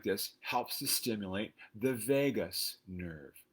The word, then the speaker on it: vagus: helps to stimulate the vagus nerve not the las vegas nerve no this one is spelled l-a-g-u-s you can search for